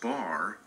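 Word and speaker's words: בר: Bet Resh, pronounced bar, is translated sun in Hebrew.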